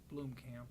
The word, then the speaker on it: Blomkamp: you know, hopefully there's a talk with Neil Blomkamp, I think is how you pronounce his last name.